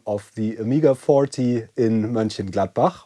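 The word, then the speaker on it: Mönchengladbach: the Omega 40 in Manin Gladbach which is actually the way you pronounce that city in Germany where the huge Amigga convention for the AmIgga's 40th birthday is held.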